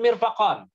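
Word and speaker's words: مرفق: Nah, mirfaq bikasril mimi, ya, dengan dikasrohkan mim. Wa fathil fa'i, fa-nya itu fathi juga kasroh ya, karena dia ngikut majrur dengan huruf ba. Ba dikasri, bikasri. Dengan dikasrohkan mim dan difathahkan ya fa. Jadi mirfaq. Mirfaq.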